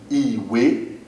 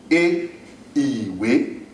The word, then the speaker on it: ìwé: In English, it's represented as I, but when we pronounce it in Yoruba, it is E. A book, for instance, is Iwe. A book, Iwe, I, we, ìwé, do, me.